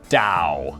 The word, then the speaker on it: Tao: the philosophical tradition of taoism which is always confusing because it's spelt with a t but it's pronounced dao thanks chyna i'm about